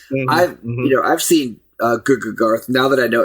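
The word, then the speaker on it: GGGarth: other people because I've, you know, I've seen GooGarth now that I know it's pronounced that way.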